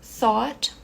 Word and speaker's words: thought: bem reduzido bem suave thought thought thought thought aqui fica igual nas duas formas e esse GH é mudo então a gente pode pular direto pro T thought thought bom essa